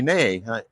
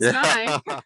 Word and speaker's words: Ney: You said Nye, right? Oh, yep, you're right. But some people will say nay, or they'll spell it wrong. And I always say, there's one way to remember it. Uncle Bill Nye, the science guy, spells it wrong.